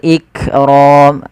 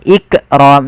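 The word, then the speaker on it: الْإِكْرَام: dibaca dengan jelas Wal iqram lafal Kaf ik ik tapi bukan ikqram jangan sampai memantulkan huruf Kaf kemudian padafal ro rnya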